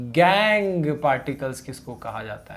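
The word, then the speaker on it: gangue: उनको हम गैंग particles बोलते हैं। यानी कि इसको गंगू मत बोलना भाई, बहुत लोग इसको गंगू पार्टिकल प्रोनाउंस करते हैं, ऐसा नहीं करना है, ठीक है।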